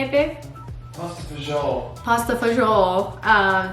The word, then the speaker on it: fagioli: Pasta fagioli.